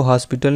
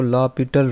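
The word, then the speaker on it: L'Hôpital: तो हम लिखेंगे बाई लॉपिटल रूल, इसको हॉस्पिटल नहीं पढ़ना, आपने इसको लॉपिटल रूल पढ़ना है, ठीक है।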